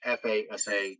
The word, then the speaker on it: FASA: was out by the Chicago company I always mispronounce it it's FASA that did you know City technology totally there